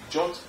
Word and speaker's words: JWT: It's written as JWT, it's pronounced as JOT, and that's short for JSON Web Tokens.